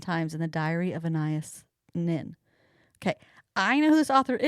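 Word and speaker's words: Anaïs Nin: Annias Nin.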